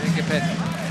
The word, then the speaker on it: Ngapeth: Engapeth will go and serve again.